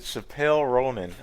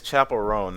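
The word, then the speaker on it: Chappell Roan: Nigga said Chappelle Ronan. I was like, okay, that's not even remotely, bro. Dog, that's not how I say her name. It's Chappelle Ronan. Not you said Chappelle Ronan. The world knew what I'm talking about. I didn't mean no disrespect. I thought it was Chappelle at first.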